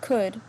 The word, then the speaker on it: could: Por ejemplo, when you pronounce could, the L is silent, ¿sí?